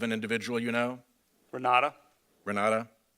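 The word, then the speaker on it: Renate: individual you know Renata Renata it's spelled with an e at the end re na te is direct okay and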